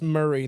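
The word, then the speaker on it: Maury: no it's m a r y it's it's pronounced Murray though Povich pvic Murray pvic is he polish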